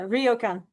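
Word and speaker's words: ryokan: Royokan hotels. I heard from a Japanese person. Yeah. Rioan.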